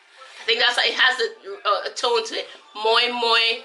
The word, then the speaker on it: moi moi: acai has a totally muy muy that's how it's pronounced to wrap lime online